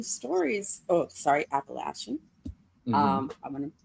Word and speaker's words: Appalachian: And I get a kick out of it also because the first like 3 or 4 issues all centers around Appalachia, and Appalachian folklore is hilarious to me.